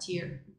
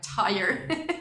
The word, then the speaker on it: tier: I just found out that you pronounce that tier. So sorry for those of you who were offended by my tire that I was saying in the Patreon video.